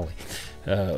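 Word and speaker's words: ally: не самое очевидное произношение, там 4 буквы A-L-L-Y, кто-то прочитал Олли, хотя он, конечно, алай.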